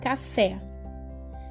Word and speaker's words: café: Por exemplo, café. Café é uma palavra oxítona porque a última sílaba, fé, é a mais forte da palavra.